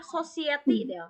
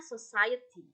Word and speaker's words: society: bukan pukunami Oke kemudian saya mendengar societti harusnya Society oke nah kemudian ketika